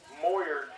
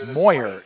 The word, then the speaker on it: Moyer: down Steven mayor Jr moer j looks like I got his name wrong Joe it's Moyer J for a bears fix